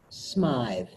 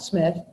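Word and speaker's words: Smythe: is that that they pronounce it Smyth they're not Smith snide asked speak it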